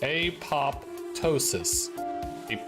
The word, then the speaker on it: apoptosis: The TO is pronounced toe. Yeah. So apoptosis. Hard A, soft O, hard O.